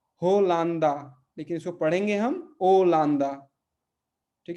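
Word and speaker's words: Holanda: एच, लेकिन यहाँ पे एच जैसा कोई एच जैसा कोई उच्चारण नहीं है, तो अगा, अगा। और मान लीजिए जैसे हॉलैंड है ना, हॉलैंड को पुर्तगाली में हम क्या बोलेंगे? ओलांदा।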